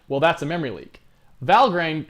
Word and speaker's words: Valgrind: Valgrind, or Valgrind, I believe is how it's pronounced.